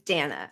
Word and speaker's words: Dana: her name that's good Donna bash Bush Dan Bush Dana Dana it's Dana Dana Bash I want see